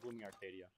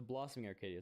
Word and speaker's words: Blossoming Arcadia: So I'm hoping we can go eat Yanni today at Blooming Arcadia. Let's go! The Blossoming Arcadia, sorry, I mispronounced it.